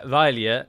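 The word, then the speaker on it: abhaile: famous irish folk song called oro shadavathovailia where vailya is the way they pronounce that word at the end but in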